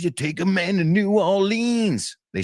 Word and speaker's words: New Orleans: say it like that, New Orleans. That's how I used to say it. Now I say New Orleans because I feel like that's closer to what they say.